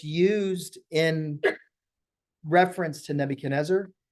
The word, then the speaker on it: Nebuchadnezzar: So remember that's spelled Nebuchad, Chad, Nezar, Nezzar, Nebuchadnezzar. All right.